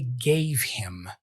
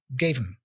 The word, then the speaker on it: gave him: He doesn't really say gave him. It's almost like he's going, gave him, gave him, gave him. The H for him is dropped. He only pronounces M and gave him, gave him.